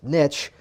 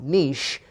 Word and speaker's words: niche: By the way, again, it's niche, not niche, because niche rhymes with rich.